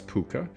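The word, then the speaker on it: púca: and Cornwall and Britany all variously spelled but generally pronounced more or less puka with the Welsh version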